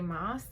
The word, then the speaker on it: Maas: Maas, or Maas, however you want to pronounce it.